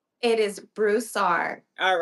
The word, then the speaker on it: Broussard: It is Broussard.